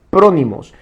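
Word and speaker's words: φρόνιμος: Entonces, la palabra prudencia que encontramos en la Escritura, en el griego, se pronuncia prónimos, que significa sabiduría práctica.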